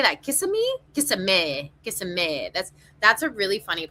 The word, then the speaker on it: Kissimmee: Kissimmee.